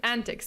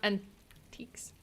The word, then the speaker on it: antics: So it's antics, not antiques.